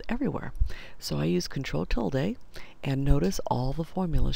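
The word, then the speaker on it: tilde: an exact replica control till day now I know other people pronounce it Tilla but I say till day and the till day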